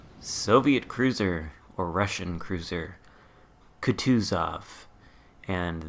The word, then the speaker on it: Kutuzov: Cruiser or Russian Cruiser could choose off and that I believe is the correct way to pronounce it could choose of with the emphasis just like that so I'm gonna try